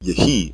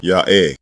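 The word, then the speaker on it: היה: The verb become is pronounced yehi in Masoretic Hebrew, but again we are deleting this e vowel from the dialect. The original pronunciation is simply ya'eh. The initial ya is heard as the consonant. The letter ha in the middle is silent, and the final letter ya is the pure long a vowel.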